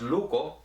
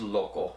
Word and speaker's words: loco: In Tetelcingo, the Spanish stem loco is pronounced luco, and you get it in all kinds of different constructions, like lukohtik, which means crazy, kilukohtileya means he drives him crazy, and there are words like that. In Orizaba it's pronounced loco, and they do have